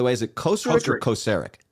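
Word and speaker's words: Kocurek: is it closer to kosarick kosarick closer emphasis on first i always question myself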